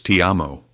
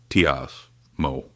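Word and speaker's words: ti amo: It's Tiamo, not Tas Mo.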